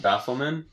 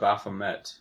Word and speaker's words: Baphomet: and all is that you said bath lemon yep I thought it was a Baphomet oh yeah I mispronounced your right yeah yeah cuz